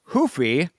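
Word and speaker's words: Ruffy: on into fights with Mauricio Hufi versus James Yontop, or Mauricio Rufi versus James Lontop, depending on where in the world you are, or how you want to pronounce those names.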